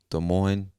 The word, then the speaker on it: Des Moines: moines or des moines i'm sure the s is silent because i believe it comes from french and most of the time those s's at the end they're silent anyway moving on to